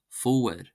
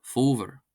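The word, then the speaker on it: fómhar: The broad version is pronounced as a W sound. For example, fower, fower, fower, fower, fower, fower, fower, or fover, fover, if you wanted to pronounce it as a V, and that means autumn.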